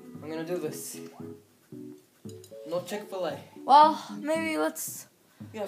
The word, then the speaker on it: Chick-fil-A: gonna do this no chick-fil-a well maybe let's yeah some people pronounce the cheek below but i say chick-fil-a well let's see let's